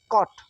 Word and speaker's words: caught: इधर है COUGHT कॉट, ये GH सब साइलेंट है, इसको अंडरलाइन कर दे रहा हूँ मैं, GH साइलेंट है।